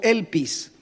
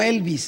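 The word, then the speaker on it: ἐλπίς: más de 50 veces con una palabra que se pronuncia más menos como elpis y no Elvis eh elpis Esperanza fruto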